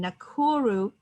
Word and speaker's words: Nakuru: her flagship project women like us center in nakuru kenya did i pronounce that correctly you did okay has changed